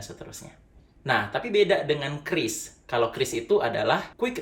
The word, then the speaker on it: QRIS: dan ada yang namanya Kris By the way bacanya kris bukan qris dan bukan qris nah QR Code sendiri